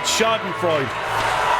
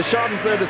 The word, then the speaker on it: Schadenfreude: It took me a long time to pronounce the word Schadenfreude. And you still can't do it, is it? Schadenfreude.